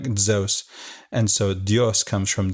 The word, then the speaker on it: Zeus: Spanish just comes from Zeus right you've heard Zeus the correct pronunciation is more like zos and so dios comes from zos but we